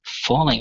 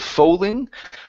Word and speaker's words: fooling: The word is pronounced fooling instead of foaling.